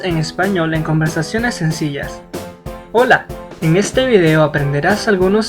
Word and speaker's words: hola: Recuerda pronunciar hola y no hola.